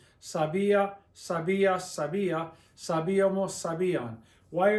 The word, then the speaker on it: sabía: To break up the diphthong so that the I and the A sound as two separate sounds. I-a. Sabía, sabías, sabía, sabíamos, sabían.